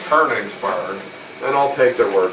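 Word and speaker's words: Königsberg: what that's called but in America it looks like konigsberg but they're saying you pronounce this kerningsburg then I'll take their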